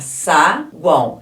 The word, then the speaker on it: saguão: por exemplo vamos reparar saguão eu coloquei esse o aqui de preto porque a gente fala saguão é como se falasse um U é representado escreve com o mas é representado pelo fonema u em chagão vamos aqui